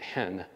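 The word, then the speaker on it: ἐν: in that passage it's a two-letter word e-n they pronounce it hen hen it means in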